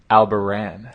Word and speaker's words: Albarran: But we got Alex Albarran. He's a head of an MMA agency. And it's actually Albarran.